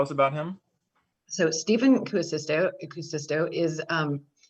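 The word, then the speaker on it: Kuusisto: about him so stephen cuocisto acoustico is um and it's actually k-u-u-s-i-s-t-o so i always want to stick an extra you in there so forgive me if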